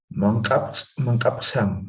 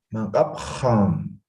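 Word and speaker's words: mankapxam: Ya, la pronunciación de la X, ¿cómo es en Aymara, Jenly? Como X del castellano me estás pronunciando. En Aymara no es así su pronunciación, ¿ve? Algo como Ja, ja. algo así. Entonces no me tienes que decir mankapsam, ¿ve? No, mankapham, ham, ¿ya?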